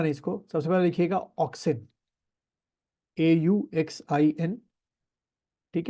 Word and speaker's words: auxin: तो देखो कौन कौन से हैं, सम ग्रोथ प्रमोटर हार्मोन्स आर, भूलना नहीं इसको, सबसे पहले लिखिएगा ऑक्सिन, AUXIN, ठीक है। सेकंड आपका लिखिए, पहले स्पेलिंग लिखता हूँ, GIBBERELLIN, गिबरेलिन बोलते हैं उसको हम लोग।